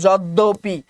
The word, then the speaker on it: যদ্যপি: যদ্যপি, অপি, অ এখানে কিন্তু আছেই, উচ্চারণের মধ্যে কি আছে? অটা আছে, শুধু হ্রস্বইকারটা পরিবর্তন হয়ে কি হয়ে গেছে?